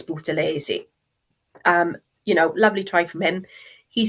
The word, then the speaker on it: Buthelezi: I always get his name wrong. Buthelezi. I'm sure it's Buthelezi.